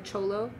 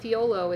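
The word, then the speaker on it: Thyolo: you pronounce that yes it always trips people out because they they call it theolo it's it's spelt t-h-y-o-l-o theolo is what it looks like but uh in in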